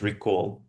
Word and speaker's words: recall: Да, то есть видишь, что часто первое «е» снова произносится как «и».